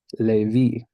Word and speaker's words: Levi: 12 Suns baby so does the stress come on on the bar yeah the stress comes on the the last syllable of every word unless it's otherwise noted so this one would be Levi right this is a